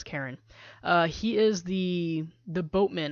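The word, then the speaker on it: Charon: how to pronounce it was it Sharon Karen but i think the conclusion was Karen he is the the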